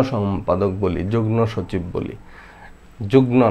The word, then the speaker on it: যুগ্ম: আমরা অনেকে যুগ্ম সম্পাদক বলি, যুগ্ম সচিব বলি, যুগ্ম না, যুগ্ম, ঠিক আছে? এইটার নিয়মটা হলো এই যে গ, ঙ, ন, ল, ট এগুলোর সাথে যদি মফলা যুক্ত হয় তখন এই মফলার সঠিক উচ্চারণ, ম এর উচ্চারণটাই হয়, ঠিক আছে?